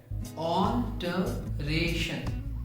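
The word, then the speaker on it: alteration: दूसरे शब्द में हम रे पर जोर लगाते हैं, ऑल्टरेशन, ऑल्टरेशन, ऑल्टर, ऑल्टर, ऑल्टर, ऑल्टरेशन, ऑल्टरेशन, ऑल्टरेशन।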